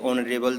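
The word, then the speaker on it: honourable: कभी भी स्वर का साउंड हो, जैसे ऑनरेबल शब्द है, आवर शब्द है, ऐसे शब्द जो हैं अगर कभी ऑनेस्ट शब्द है एच से स्टार्ट होते हैं, बट एच साइलेंट होता है इसमें, और इस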